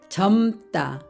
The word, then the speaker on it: 젊다: 겹받침 리을 미음을 살펴보겠습니다 점다 여기에서는 뒤에 있는 미음 받침이 소리가납니다 그래서 점다 따라고 읽습니다 그런데 모음을 만나면 절어요 절어요